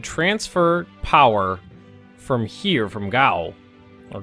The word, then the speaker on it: Gao: And I would love if we could transfer power from here, from Gao, or Goa. Well, I've always pronounced it, in my head, I've always pronounced it Gao.